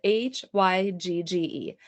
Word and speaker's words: Hygge: It's spelled Hygge. Hygge. So, Hygge, it's Hygge.